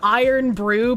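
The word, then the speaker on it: Irn-Bru: Pronounced iron brew.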